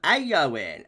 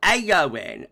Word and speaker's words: Eowyn: pronounce this one so it's storm aoin a yoing so that e is an a really I guess um